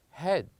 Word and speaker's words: head: So here we have, yes, they are the same letters, but they have different sounds. With the first one here, we pronounce or we produce a longer sound. We said read. But with the second one, we produce a shorter one. We said head.